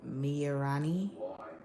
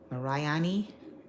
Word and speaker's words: Marani: Is that Marani or Morani? Marani.